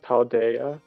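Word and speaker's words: Paldea: I'll pass lead to a great creator of paldia as they say no I'm sorry I'll pass later to the great creator of Parmesan as they say also is from also is pronounced paldaya I don't care we're naming every place in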